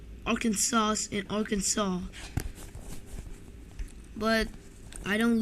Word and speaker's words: Arkansas: arkansas yes it's pronounced arkansas the last s is silent i've because due to